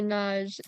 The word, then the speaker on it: nuage: Quand il fait mauvais, il y a souvent des nuages dans le ciel. So it's nuage. They're both 2 syllables.